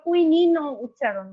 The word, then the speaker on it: কুইনাইন: Atropine, কুইনিনকে অনেক সময় কুইনাইন অথবা কুইনিন উচ্চারণ করে।